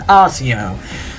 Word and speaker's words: Accio: __ ] pronounce it i pronounce it ossio because think about it you can get anything